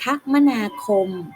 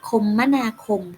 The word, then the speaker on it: คมนาคม: ไป มี การ คมนาคม ทำ นี้ อ่าน ได้ 2 แบบ นะ คะ นัก เรียน ก็ อ่าน ว่า การ คมนาคม ก็ ได้ หรือ อีก แบบ หนึ่ง จะ อ่าน ว่า การ คมมนาคม ก็ ได้ ค่ะ หมาย ถึง การ